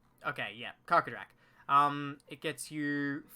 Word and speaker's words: Karkadrak: Actually, I'm not even sure how to pronounce that creature's name. Karkadrak. Okay, yeah, Karkadrak.